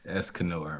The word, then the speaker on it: Escanor: Yeah, Escanor, man.